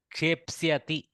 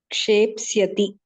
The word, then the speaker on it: kshepsyati: See, Kshe, P, S, Ya, Psya. Shape. No. Kshepsyati. Kshepsyati. You roll it a few times, you will get it.